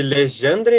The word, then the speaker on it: Legendre: A conjectura de Legendre, eu acho que se lê Legendre. Ele é francês, então acho que é meio que essa pronúncia.